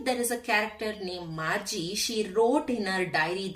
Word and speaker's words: Margie: How to pronounce this word is Margie. It is not Margie, it is Margie.